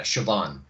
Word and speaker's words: Siobhan: Yeah, Siobhan.